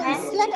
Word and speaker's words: island: Iceland or Island or Island? Which one? I have heard so many members telling Iceland, Huh? It's island. That S is silent.